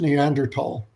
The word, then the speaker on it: Neanderthal: it and both ways are acceptable it is pronounced neanderthal neanderthals occupy a very interesting place in human